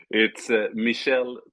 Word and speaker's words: Michel: pronounce the last it's Michelle traure I was way off apologies apologies yeah it's the French version of Michael Michelle is that is